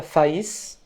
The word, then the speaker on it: Faÿs: In France, the name Reinhardt sometimes is pronounced Renard. So there's actually a musician, a Manouche musician called Raphaël Faïs.